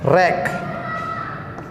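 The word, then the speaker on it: wreck: रैक, यहाँ पर W का उच्चारण नहीं बोलेगा, रैक बोलेगा इसे, रैक।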